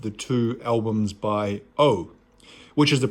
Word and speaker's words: OU: was the package arrival of the two albums by O, which is the pronunciation. I wasn't sure how to pronounce it, but apparently it's pronounced O.